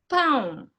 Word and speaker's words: pão: So usually, in terms of the pronunciation, whenever you see that tilde, it means that it has a nasal sound, yes? So you need to focus on pronouncing that nasal sound.